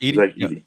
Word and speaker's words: Edey: Zach Edey.